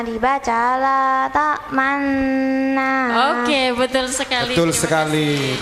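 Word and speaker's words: لا تأمنا: Ini ismam Bapak Ibu, yang membacanya harus mencucu. La ta'manna gitu. Kalau nggak mencucu, menurut ilmu tajwid nggak boleh.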